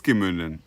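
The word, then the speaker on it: Gemünden: Gemunden, it is Gemunden.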